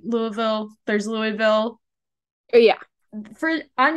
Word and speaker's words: Louisville: And then you say Louisville. But I feel like that's like a marker of like you've been here long enough to like say it right.